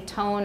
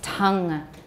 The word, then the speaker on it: tongue: was because tongue i don't want you to say tone or tan or something funny it's tang tang ida tang because it's